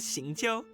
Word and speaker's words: Xingqiu: Are you confusing me with Xingqiu? Oh, that's how it's pronounced? Oh, I didn't You get know that. Shincho?